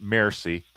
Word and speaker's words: Mersey: In fact, the British maritime counselor, Lord Mersey, and that's actually how his name is pronounced, Mersey.